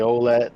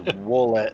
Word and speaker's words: Wolet: They say Olet and. The name is Wolet.